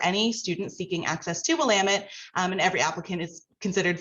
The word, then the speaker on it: Willamette: I want to make sure everyone hears Willamette. I was mispronouncing it earlier.